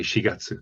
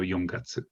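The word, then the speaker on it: 四月: pronunciations of certain numbers so four for example it's sometimes pronounced she especially if we're talking about april we say shigatsu there's no young gatsu if you said young gatsu you'd be perfectly understood but shigatsu is the right way but then this doesn't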